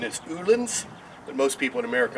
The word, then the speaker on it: Öhlins: do we're going to install a set of olens and the real pronunciation pronunciation is anolin but most people in America aren't comfortable with